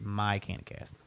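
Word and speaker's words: MyCannaCast: I hope everyone gets my cannacast is not pronounced like Michigan it's supposed to be a play on my like my Canada cast like but Michigan is MI so we just my can cast so that's that's the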